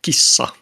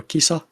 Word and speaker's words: kissa: pronounce the word uh you just uh hold the sound a little bit longer so for example Kissa which is race and Kissa which is cat has a short s and a long s